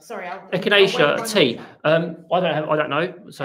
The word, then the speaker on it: echinacea: How on earth do you pronounce that? It's Beatrix. Beatrix's question. Echinacea. Yeah, echinacea. Sorry, echinacea tea.